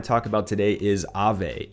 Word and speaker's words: Aave: And that being said, that project that I want to talk about today is Aave, A-A-V-E. I think that's the way people pronounce it.